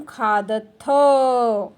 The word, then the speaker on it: खादथ: अधुना मध्यम पुरुषे त्वं खादसि, युवां खादथः, यूयं खादथ, खादथः, ह है, विसर्ग का उच्चारण हम ह करके करते हैं और यहाँ पे विसर्ग नहीं है, इसीलिए बोलना है खादथ। खादथ अ का उच्चारण होना चाहिए।